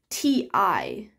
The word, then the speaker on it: ti: tea that you drink t-i like it's spelled t-i so it's like a ti plant but the way it's